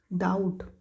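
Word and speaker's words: doubt: हा डोमिनंट त्याच्यानंतर 68 डाऊट डाऊट डी ओ यु पी टी डी ओ यू पी टी डाऊट डा उठ लक्षात घ्या डा उठ म्हणजे यु टी हे जरा स्पेलिंग आहे ना आणि त्याचा जो उच्चार आहे प्रोनाउन्सिएशन डिफरंट होते डाऊट पण बघायला गेलं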